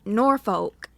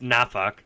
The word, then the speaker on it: Norfolk: So it's it's Norfolk. Norfolk! Yeah. It's like an offensive version of Aflac.